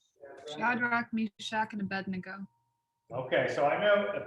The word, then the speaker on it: Abednego: starts with an a now we always pronounce it a bed together but that's actually not what the name is it's abba nego a bed nego we